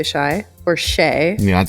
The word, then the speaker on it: Shai: Can I just confirm that it's Shai Marie and not Shia Marie? Well, it's S-H-A-I. Yeah, I would say Shai or Shay.